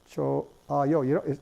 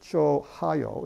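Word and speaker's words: 좋아요: Choayo. No one pronounces it chohayo. It's choayo. There's absolutely no H is pronounced there.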